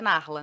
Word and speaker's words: Narla: mas não é com R, é Nahla. Tipo, Nala. Nala. Aham. Só que aí pronuncia Narla, né?